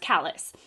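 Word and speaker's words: Callas: I want to say Calais because it's more, it's like French, but I think it's pronounced Callis.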